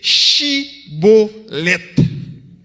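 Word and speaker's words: shibboleth: prononcer mot ça qui c'est chibolette. C'est le mot que compagnon maçon étoile là. Yo même yo pas de prononcer mot au lieu de chi, yo dit si.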